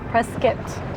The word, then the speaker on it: Prescott: Preskitt, I keep mispronouncing it how long did you say to reach Prescott from here?